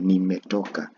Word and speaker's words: nimetoka: to Europa Europa see the best way to pronounce these words in swah is to pronounce them eh bit by bit like you can say nimetoka then you try combining the whole of that pronunciation nimetoka nimetoka then repeat that